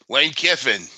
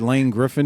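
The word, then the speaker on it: Lane Kiffin: Lane Keifin. Jesus Christ, you said it right. Do you realize you said Lane Griffin the other night?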